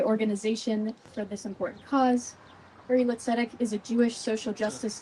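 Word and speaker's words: Uri L'Tzedek: It is Hebrew, so we don't hold you accountable for that. It's pronounced Uri Litzedek.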